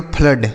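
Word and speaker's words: flood: एफ L double O डी। तो इसे हम पढ़ेंगे फ्लड। क्या पढ़ेंगे? फ्लड। ठीक है? तो इसे हम पढ़ेंगे फ्लड। तो यहां पर ना तो ओ हो हो रहा है। देखिए ना तो छोटा ऊ हो रहा है ना तो बड़ा ऊ हो रहा है। यहां पर क्या हो रहा है? आ हो रहा है आ के रूप में।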